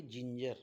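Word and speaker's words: ginger: काय सांगितलं मी की जी नंतर इ आय वाय या तिघही अल्फाबेट पैकी किंवा या तिघही अक्षरांपैकी जे कोणतही अक्षर किंवा लेटर जी नंतर येईल तर जी चा उच्चार ज असा करावा जेणेकरून शब्द वाचत असताना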